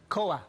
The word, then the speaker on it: Koa: And you called your little purr boy Koa. Koa. And how do you spell that?